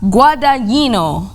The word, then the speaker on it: Guadagnino: Wait, before Andrew Garfield, let's pronounce the director's name properly. It is. You can't. No, she probably can. Wait, Luca Guadagnino. That's the name. She's like my, Google pronunciation. Guadagnino.